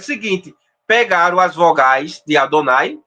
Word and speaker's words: Adonai: é por isso que no judaísmo se pronuncia Adonai Adonai ou rashim como eu